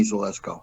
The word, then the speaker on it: Zelisko: you want just call me but it's zelisko zalesko i'm sorry all right zalesco uh forgive